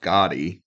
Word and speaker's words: Gotti: says chains gaudy so if you're like a gaudy chain it's like so whatever he's saying right he's got killed so many people he has a gaudy chain but Gotti is the way he pronounces it got more bodies than